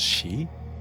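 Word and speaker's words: 四: 4 can be pronounced as shi and 9 as ku.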